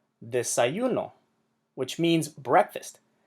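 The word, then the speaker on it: desayunó: Desayuno, which means breakfast. This word, desayuno, means ate breakfast, as in he ate breakfast. Desayuno puts the emphasis on the last syllable. Therefore, we need to write that accent.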